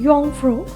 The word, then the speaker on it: Jungfrau: train top of Europe junk food जिसे अच्छे से करो और प्रोनाउंस करो तो कहते हैं यंग फरो बट मैं अभी हर